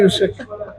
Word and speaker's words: Usyk: Sorry, Usyk.